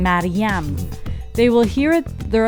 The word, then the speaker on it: Mariam: name, I answer them with the exact Persian pronunciation with the second syllable stressed how it's supposed to be. Like as in Mariam.